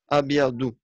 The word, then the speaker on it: أبيض: هذا الحائط أبيض Abiyadu. D'où c'est un dad et non pas un dal.